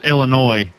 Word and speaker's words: Illinois: It is pronounced Illinois. Yeah, that's what I said. Illinois. Steve said Illinois. There's no. I did say Illinois. The S is silent.